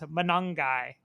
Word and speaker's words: Manongai: But I did learn one thing watching this game on Saturday night and that's we've been saying Manong's name wrong. It's Manongai.